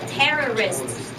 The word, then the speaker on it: terrorists: That's terrorists. First syllable, terrorist.